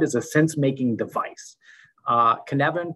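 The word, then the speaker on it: Cynefin: a sense-making device uh canevan pronounced canevan is a welsh word that signifies the multiple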